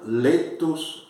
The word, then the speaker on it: laetus: A E se pronuncia E, non letus est.